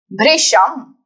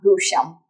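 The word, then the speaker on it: भृशम्: Bhrisham. Not Bhusham.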